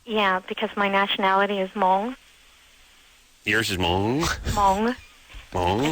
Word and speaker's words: Hmong: Yeah, because my nationality is Hmong. Yours is Hmong? Hmong. Hmong? It's a rare Asian. You're like a Hmonganite? Hmong. That's my nationality. How do you spell that? It's with a silent H, M-O-N-G.